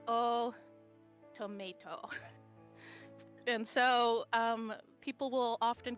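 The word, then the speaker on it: Otomate: Yeah, I know, it sounds like tomato because that's how you're supposed to say it. It's spelled automate, but... Oh, tomate. Mate. But Not the but tomates. the way they say it is oh tomato.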